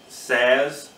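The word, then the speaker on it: Saaz: We have a Czech Saz hop. I think that's how you pronounce it, S-A-A-Z.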